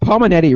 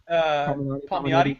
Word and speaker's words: Palmiotti: Yeah, I think it's Palminetti, right? Palminetti, right? Is that how you say his name? Palmiotti. Yeah, Palmiotti.